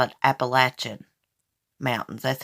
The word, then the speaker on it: Appalachian: the Appalachian Mountains we don't call it a Appalachian Mountains here we call it Appalachian Mountains that's how we pronounce it we got country slang I accidentally